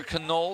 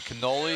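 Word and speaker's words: Connole: Here's Peter Canole, 6'8" product out of Orlando, Florida. First time he was in a lineup, I was pronouncing it Canole because I'm always hungry. It's spelled C-O-N-N-O-L-E.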